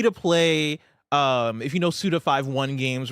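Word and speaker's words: Suda51: never heard someone say Suda 5.1. I always used to say Suda 51, but then I got corrected. Apparently it is Suda 5.1 is how you say it.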